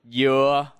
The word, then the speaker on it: dừa: For example, dưa means melon, but dưa means pineapple, and dưa means coconut.